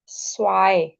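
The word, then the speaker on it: zwei: The first word is please focus on the pronunciation. This is null. Zero is null. One is ions one is ions two इज़ स्वाई because Z की sound is scene की sound and ई आई इज़ आई।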